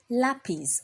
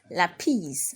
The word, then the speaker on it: lapis: the next example is lapis lapis okay so we also have the accent on the A and so you raise your voice at a so we have LA and not lapis all right it is lace